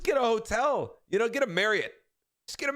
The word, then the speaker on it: Marriott: Just get a Marriott, and I'm gonna say Marriott because that's Marriott. how they want it. Did you just say Marriott? That's actually how that's how they intend it to be pronounced.